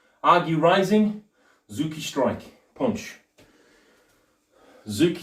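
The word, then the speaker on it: tsuki: Zuki spelt with a T. T-Z-U-K-I.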